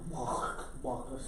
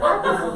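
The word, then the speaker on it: Backus: Isaac Walkus. Okay, Bacchus is how you say it.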